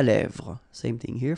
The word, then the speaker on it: lèvres: lèvres, un rouge à lèvres, same thing here, final S not pronounced, and then this E accent grave here, it gives you the E, really open sound, lèvres, alright, un maquillage, okay, so